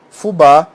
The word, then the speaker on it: fubá: Por exemplo, nesse caso aqui, cajá, fubá e rapé. Veja, você fala cajá, sílaba tônica está aqui. Você não fala caja. Fubá, fubá. Aqui é a sílaba tônica, rapé, rapé.